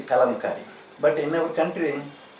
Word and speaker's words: Kalamkari: They do not know how to pronounce it. Okay. Kalamkari they are saying, Okay. but this is the Kalamkari.